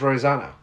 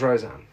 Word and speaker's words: Roseanne: mistake roseanne i i i swear it's rosanna oh there might be a show called rose down there okay it's roseanne fair enough thank you for pointing out my thai post okay you said it wrong people are gonna